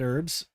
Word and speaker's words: herb: Because, like, it makes sense the way the Brits say it, because they say herb. You know, they pronounce the H. And the Americans are like herb, which is also like short for Herberts.